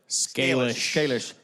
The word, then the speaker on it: Scalish: Scalish.